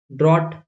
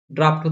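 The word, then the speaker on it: draught: ड्रॉट, ड्राफ्ट होता है वो, ड्रॉट थोड़ी बोलते हैं हम लोग उसको, इसको क्या बोलते हैं? ड्राफ्ट।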